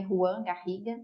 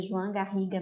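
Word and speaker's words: Joan Garriga: é do João garriga muita gente às vezes acha que eu tô pronunciando errado que é Ruan garriga né que é convencional mas não o nome dele pronuncia João garriga mesmo por conta da onde ele se encontra na Espanha a pronúncia é essa tá então onde estão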